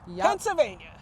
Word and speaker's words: Pennsylvania: yeah it's rare but Pennsylvania Pennsylvania Pennsylvania there's no well in it p n n s a v a n i a Pennsylvania Pennsylvania and that's one